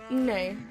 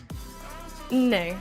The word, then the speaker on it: nne: Moja, mbili, tatu, nne. Nne, that's 2 syllables, remember, that ends in M's, unless next to a vowel or a Y, they are their own syllable. So it's nne. I'm gonna stop.